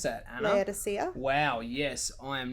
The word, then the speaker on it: Laodicea: church in, I don't even know how to pronounce that, Anna. Laodicea.